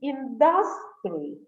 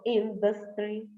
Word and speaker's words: industry: For example, they may say industry instead of industry, botany instead of botany, technology instead of technology, comfortable instead of comfortable, due to the stress